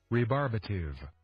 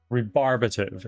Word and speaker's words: rebarbative: Rearbative. Rebarbative is how you say it.